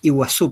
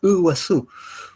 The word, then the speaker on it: Iguazú: Nosotros decimos Iguazú, pero la pronunciación es Iguazú.